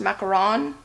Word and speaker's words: macaron: I think the ones in the oven with the egg whites are pronounced macaron, because it's French, and these are macaroons.